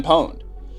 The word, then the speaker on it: pwned: And pwned is spelled Pwned. Okay. And the reason it's called, pwned is a play on terms on the word owned, which is, if I break into you, I own you.